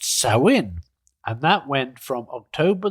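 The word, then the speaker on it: Samhain: N, which is a Gaelic word that is pronounced Sin.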